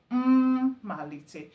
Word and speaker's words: mma: So, it has double M. The first M there is a pseudo vowel. So, for you to really get the pronunciation, you will h the first one. Mal. So four syllables.